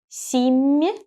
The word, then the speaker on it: семья: M and soft sign. Soft sign shows me that the sound M is soft. So I raise my tongue closer to the hard palate when I pronounce this M. So it becomes me, me.